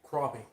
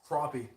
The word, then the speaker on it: crappie: Crappie. Crappie.